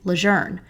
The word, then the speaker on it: Lear: the camp was originally called Lear when he was at boot camp but over time it became pronounced the other way because of how it's spelled because news anchors have decided to use the pronunciation lour I decided I will do the same throughout this episode to remain consistent and because that is the wish of the leure family now that we have